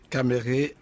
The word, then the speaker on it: Kamerhe: pas parvenu est ce que vous pouvez le prononcé pour nous s'il vous plaît 8h kamerhe loi qu'en guinée king est d'accord ça signifie